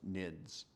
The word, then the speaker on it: NIDS: The term network intrusion detection system is often abbreviated as the acronym NIDS and pronounced NIDS.